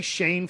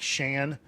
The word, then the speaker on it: Shan: I say Shane Foster. It's spelled like Shan. Maybe it is Shan Foster.